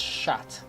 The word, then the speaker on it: chat: well cat shot chat chat is cat in French but it's pronounced shat like the past tense